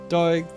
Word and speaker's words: Doig: Your name rhymes with hemorrhoid.